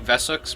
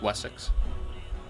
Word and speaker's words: Wessex: the king of Wessex I keep saying vessels because that's kind of how they say it in the show but it's Wessex so yeah this is